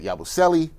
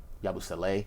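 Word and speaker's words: Yabusele: I think all of us here we like the moves to get Clarkson to get Yabuselli um Yabusle. I realized the pronunciation came out yesterday the Knicks had that and I got to be right on that.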